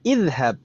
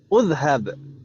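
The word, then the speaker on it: اذهب: Kita bacanya idhab, tidak udhab. Idhab. Kenapa? Karena ainul fi'linya atau huruf yang di tengah adalah huruf ha, itu tandanya fathah. Gitu kan ibu ya?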